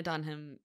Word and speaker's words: Dunham: it I would love to know what Lena Dunham Dunham's yeah that's how we pronounce it by the way um I'd love